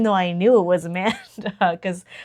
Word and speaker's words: Amanda: mother pointed out that I kept saying the designer's name wrong even though I knew what it was, but I just kept saying Amy. It's not Amy, it's Amanda.